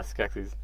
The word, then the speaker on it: Skeksis: Ryan and I were always being Skeksis. Is that how you pronounce it? Yeah, Skeksis.